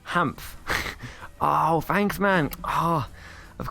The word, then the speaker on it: HaaMF: It's pronounced HaaMF.